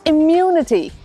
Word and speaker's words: immunity: इट्स इम्यूनिटी। इम्यूनिटी again, जो दूसरा half है वर्ड का उस पे स्ट्रेस है।